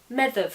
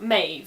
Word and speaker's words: Medb: Now the DH sound in medieval Irish would be a th, and the BH would be a v, hence Medb. In modern Irish though, the DH becomes silent, which leaves you with something more like Maeve, and that's how it's generally anglicised.